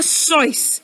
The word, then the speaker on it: Seuss: Seuss but do you know his real name how you pronounce it it's like voice can you say voice dr. sois can you all say